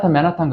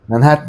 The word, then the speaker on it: Manhattan: 그냥 맨하탄 그래요. 한국 사람들 그냥. 네. 맨하탄은 미국 사람들도 알아들으니까. 근데 미국 애들은 맨하튼. 맨하튼 혹은 맨하튼.